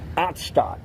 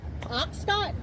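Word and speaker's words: Otstott: Ottstadt. Oxstott. Ottstadt. It's spelled O-T-S-T-O-T-T.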